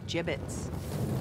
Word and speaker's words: gibbets: out of here hey look avery had some gibbots left over gibbets what it's pronounced gibbets are you sure yeah well no one likes